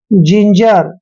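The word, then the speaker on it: ginger: वाली बात है कि जी के बाद आई आया है इसलिए हमने जी का उच्चारण ज किया है मतलब जिंजर ठीक है ना जब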